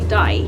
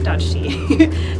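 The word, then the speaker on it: Dajti: after I've just asked the officials how to pronounce the name of the mountain and it's actually D not Dy so we are on the D Express hopefully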